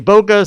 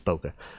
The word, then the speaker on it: bokeh: Some people say bokeh, some say bouquet, some people say bouquet. I always say bokeh. Somebody's going to tell me I'm wrong. Whatever. It's bokeh.